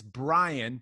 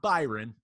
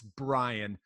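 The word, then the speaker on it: Bryon: And now, maybe in today's NBA, because Brian Russell, and remember, people, it's Brian spelled really weird. There's an O and a Y. It's not Byron. It's Brian.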